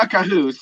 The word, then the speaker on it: Khaos: Everyone knows Chaos, except now it's just spelled with a K instead of a C. It's Cahoos. Not Cahoos. Kha'oos.